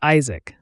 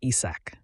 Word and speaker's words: Isaac: Even though his name was Isaac, these guys always mispronounced it and called him Issak.